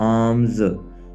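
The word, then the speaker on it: alms: तकाफ सेक लुजन खैरात आमज यानी एल इसमें साइलेंट है तो हम इसको इस तरह बोलेंगे आमज खैरात अजान कहना कॉल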